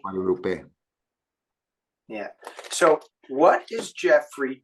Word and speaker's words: Guadalupe: The way every single vowel is always pronounced the same way, and every single letter is pronounced, and it's in every word.